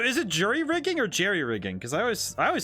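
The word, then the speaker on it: jury-rigging: be the spelling but Jerry rigging is the way you say it I see that's pretty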